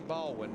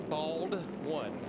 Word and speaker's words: Baldwin: I guess he was claiming I'd say Baldwin, and it's Bald-One.